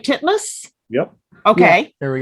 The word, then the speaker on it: Titmus: And it's written and starring Tori, are we pronouncing her name right? Titmus?